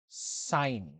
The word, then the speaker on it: sin: Theta this word seen it's pronounced as sign okay sign okay so